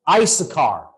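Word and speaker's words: Issachar: man by the name in Arabic we say his name is yasakyo in English in the Old Testament he's mentioned as isakar he's one of the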